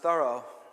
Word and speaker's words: Thoreau: in the world because i come from massachusetts and thoreau is pronounced thorough there so my my tongue